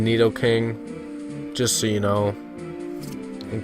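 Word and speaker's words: Nidoking: a neid king today people call it naido queen and naido king it's Neo Queen in need King just so you know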